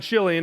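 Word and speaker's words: Chilion: decision about who's right Malin and chillian is the right way to say it but it's whatever so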